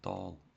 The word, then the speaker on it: tall: Пам'ятаєте, али в англійській мові читається не ал, а читається all. Тому буде тол.